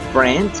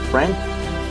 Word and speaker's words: friend: Amigo sería friend, traje sería suit y fruta sería fruit, ok, entonces esa ahí no suena, entonces tengo friend, suit y fruit, ¿sí?